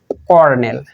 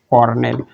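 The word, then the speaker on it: colonel: সি দিয়ে আমাদের 6 number বানান হচ্ছে কর্নেল। আচ্ছা, এটা লেখা কিন্তু কলোনেল, কিন্তু উচ্চারণ হচ্ছে কি? কর্নেল।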